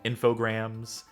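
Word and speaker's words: Infogrames: so slime generat thing it's pronounced like it rhymes with telegrams Cassidy infograms yes well they shouldn't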